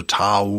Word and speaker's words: Dao: Ich werde, glaube ich, bei den westlichen Aussprachen bleiben, also Tao und Taoismus. Auch wenn es im Chinesischen ja Dao heißt, glaube ich. Ne? Also eher mit D vorne, weicher.